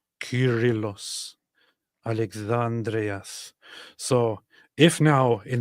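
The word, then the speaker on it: Κύριλλος: Curillos. Oh, yeah. That's a K. Curillos. Curillos.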